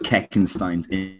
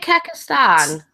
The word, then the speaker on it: Kekistan: not a supporter of Keckenstein's independence. Fuck Keckenstein. Fuck you. Isn't it Kekistan? Kekistan.